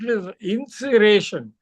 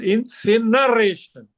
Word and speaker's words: incineration: you used a word and mispronounced ination it is incineration i n c i